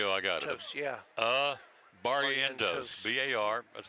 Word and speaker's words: Barrientos: Barrientos. There you go. I got it. Yeah. Barrientos. B-A-R. That's phonetically.